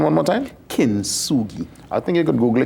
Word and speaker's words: Kintsugi: And give me the pronunciation one more time. Kintsugi.